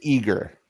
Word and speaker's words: Igor: think it's eigor but you know Seager they pronounce it eager eager like like eager Bieber okay yeah it's